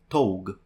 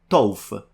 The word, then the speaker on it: tough: you notice, for example, a word such as tough, I mean, if I were to pronounce it the Italian way, I would say tog. And even if someone tells me, no, the G's pronounced like an F, and I go, tof, I feel like that could